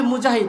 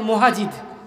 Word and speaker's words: মুজাহিদ: আল্লাহ শুনবে না শুনবে আমার নাম হচ্ছে মুজাহিদ এখন যদি আমাকে ডাকে মুহাজিদ আমি কি নাম ডাক শুনবো ডাক শুনবো ঠিকমত উচ্চারণ করতে হবে